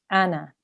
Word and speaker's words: أنا: 41 different places, but you don't pronounce this as an alif madda. You would just say ana, ana.